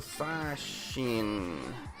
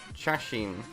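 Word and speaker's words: 写真: Katsudo Sashin. Shashin. I've been saying it wrong this whole time.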